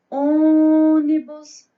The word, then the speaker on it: ônibus: na sua boquinha de ônibus muito feio é o ó e o ó é a sílaba tônica certo então ó se